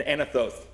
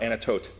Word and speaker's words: Anathoth: their ancestral pot and antithe or anatote depending on how you pronounce it located less than